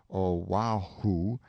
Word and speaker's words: Oahu: this group of islands Oahu and Molokai pronounced oh wow who and Molokai on the